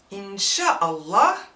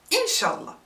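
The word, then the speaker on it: إن شاء الله: the sha of shara we get rid of the glottal stop hamza ah and la for allah inshallah which you may consider as arabic inflicted english and that is way easier to pronounce for non-arabic speaking muslims in fact this given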